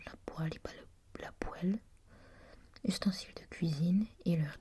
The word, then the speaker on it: poêle: cuisine et leur dérivé se prononce poêle, comme un poêle et non poêle. Je venais justement d'avoir un doute au sujet de leur prononciation et c'est bien poêle et non pas poêle.